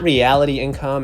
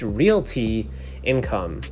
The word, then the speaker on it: Realty Income: paying dividend company and it's not reality income as a lot of people commonly say but it's actually pronounced realty income here so they pay